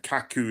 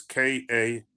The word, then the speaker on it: Kaku: And Kaku is Kaku. I'll spell it again.